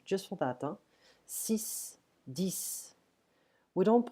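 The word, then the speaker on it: six: So here, 10 and 6, we don't pronounce the X, it's like a S here, just for that. 6, 10.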